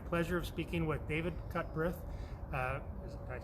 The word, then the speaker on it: Cutbirth: Today, as part of our daily Morning Mingle series, we have the pleasure of speaking with David Cutbirth. Did I pronounce that right? You did, Cutbirth, okay.